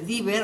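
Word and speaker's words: Deaver: Luego tenemos los separadores de Diver o de Haber, se escribe de Haber, se pronuncia Diver, ¿no?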